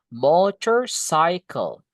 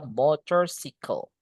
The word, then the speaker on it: motorcycle: Enggak boleh kita bilang motorcycle meskipun tulisannya C y C L E sama kayak bicycle cycle-nya ya, Guys, ya. Tapi enggak boleh dibaca motorcle. Mor ini guys bacanya motor. Oke. Cycle itu guys.